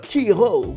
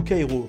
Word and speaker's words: Quyro: Donc, mesdames et messieurs, vous avez en face de vous le youtubeur Kiro, ou Kairo, comme vous voulez la prononciation.